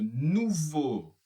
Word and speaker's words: nouveau: Et E a u en français, c'est tout simplement la prononciation. Nouveau.